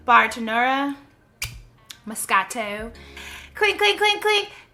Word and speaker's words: Bartenura: last week, and this time I'm going to pronounce it correctly. Bartenura Moscato.